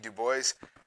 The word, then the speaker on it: Du Bois: yes the answer is the man with a French last name who decided to throw that French pronunciation out the window he went with Du Bois as the pronunciation and 1049 of you